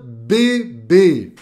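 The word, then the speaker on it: bébé: agud som fechado tá por exemplo jeromo um bebê le cafê fe fe café em português cafê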